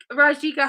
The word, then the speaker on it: Rajika: know how to pronounce her last name, and she said you got to say the J.